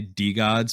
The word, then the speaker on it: DeGods: rolls off the tongue easier like i say d gods because like i've been told that's the way it's pronounced and it'll like with me to say it otherwise but like the gods is so much easier to say yeah because